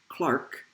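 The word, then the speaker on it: Clerk: called the equipartition theorem proved in the 1800s by james clark maxwell that's how you pronounce that and here's what the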